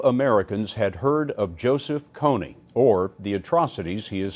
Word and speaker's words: Kony: pronouncing this guy's name I know it's not Cooney it's Coney and I did it